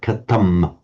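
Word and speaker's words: kathaṃ: Not much really but the Buddha would have pronounced that word katam with with an m which is how it would be universally pronounced in in northern India.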